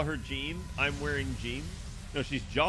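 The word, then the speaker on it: Jeanne: Yeah, I mean, it's more like Jean is how you say it, right? Like you have to do the je.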